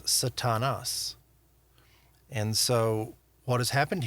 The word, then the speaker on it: Satan: Um in Hebrew we would pronounce it slightly differently as Satan and we would add ha to the front of that ha Satan or the Satan the adversary the accuser. And in Greek it's Satanas.